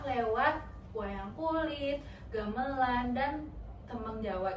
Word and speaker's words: tembang: Jadi, Sunan Kalijaga itu berdakwah lewat wayang kulit, gamelan, dan tembang Jawa. Gimana bacanya? Ya, tambeng enggak? Tembeng. Tembang.